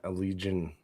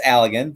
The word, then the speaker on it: Allegan: Or so it's Allegan, but one. Allegan. I know I said it wrong.